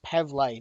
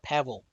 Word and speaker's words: Pavle: spread of items and I've been mispronouncing his name it's Pavley not Pavan and that was the